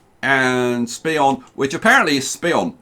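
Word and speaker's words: Speonk: And Spion, which apparently is Spion, not Spionk. The K is silent apparently, so Spion, and West Hampton.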